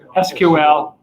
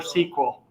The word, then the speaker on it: SQL: something like that okay this one pretty straightforward is SQL or we're sequel okay stretchy critters they all agree on that yes so pronouncing we've